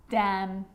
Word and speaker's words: damn: because when i'm explaining the silent letter n it actually is silent when it's next to m confusing huh let's look at some examples damn like damn it damn